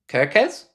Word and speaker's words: Kerkez: So you said Milos's name, both E's are pronounced like the E in bet. So Kerkez?